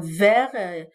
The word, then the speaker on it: vers: le déterminant 7 alors vers faites attention ici s'écrit avec V e r s donc il marque le temps donc et le s il est il ne se prononce pas il est muet aussi furieux et gros